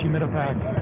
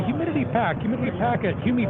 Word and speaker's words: Humidipack: Even people in the company would mispronounce Humidipack. They would say humidity packet, Humipack, and even family members or whatever, and it got frustrating.